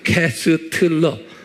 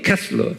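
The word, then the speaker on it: Koestler: 그 발음을 캐슬러 그렇지만서 여기에 T가 숨겨져 있어요. 캐스트러 이렇게 발음하어 캐스러. 근데 이제 발음은 캐슬러 그런 거예요.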